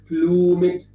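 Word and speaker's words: plumèd: e so it is plummet troops although in modern english we say blue we don't pronounce that so farewell the blue mid troops and here shakespeare accented the e to have an extra syllable to have an extra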